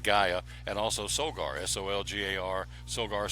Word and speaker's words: Gaia: 20% off the Gaia, G-Y, well, phonetically it's G-U-Y-A, Gaia, and also Solgar, S-O-L-G-A-R.